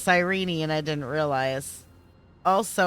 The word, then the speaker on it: Cyrene: I mean, Cyrene, I guess her name's pronounced Cyrene and I didn't realize.